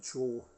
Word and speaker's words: HO: So that's the correct way of pronouncing ACHO. It's HO. The same as Hornby Doubleau is double O.